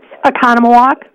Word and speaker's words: Oconomowoc: remarkable Lisa in Wisconsin was nwcpt I can't pronounce the name of your city Lisa what is it Oconomowoc okay you're on the air with Bobby hi